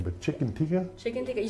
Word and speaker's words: chicken tikka: I possibly could butcher this name, but chicken tikka?